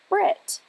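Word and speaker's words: ברית: word for Covenant breath the Hebrews however never pronounce their H's incidentally this ancient Hebrew trait is also a modern British trait the Hebrew word for Covenant therefore would be pronounced in its anglicized form as Brit finally the Hebrew word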